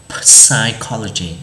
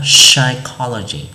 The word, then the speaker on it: psychology: Thì ví dụ như ở đây thầy có từ psychology, thì chúng ta không đọc là psychology, đúng không? Bởi vì nó là âm câm mà nên chúng ta sẽ đọc là psychology, psychology, psychology, psychology.